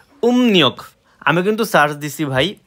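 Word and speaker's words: 음력: search দিলাম দিলাম চন্দ্র calendar যে আর কি উম নিয়ক আমি কিন্তু সার্চ দিছি ভাই উমরিয়ক ঠিক আছে উমৃক কিন্তু সঠিক উচ্চারণ উম নিয়ক এই যে এখানে দেখেন কোরিয়ান স্পেলিং সহ লেখা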